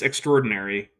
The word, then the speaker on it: extraordinary: is extraordinarily imprecise again it's extraordinary not extraordinary I know it's spelled extraordinary but it's pronounced extra ordinary I'm just going to